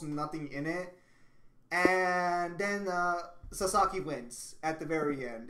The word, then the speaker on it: Sasaki: Yeah, so it is Sasaki. I was right. I'm not gonna try to pronounce that.